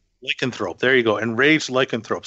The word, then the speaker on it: Lycanthrope: How do you pronounce that? Lycanthrope. Lycanthrope.